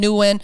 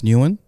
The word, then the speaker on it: Nguyen: So, but After your name, last name, NewGen, Nguyen.